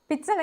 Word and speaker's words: pizza: ඉතාලි වල z එක pronounce කරන්නේ t ශබ්දෙට.